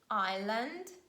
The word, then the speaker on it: island: after paying our bill letter s is not pronounced before letter l in the following words island and isle isles never